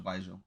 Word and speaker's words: Baizhu: We didn't really get to see much of Baizhu in the story as opposed to other characters, right?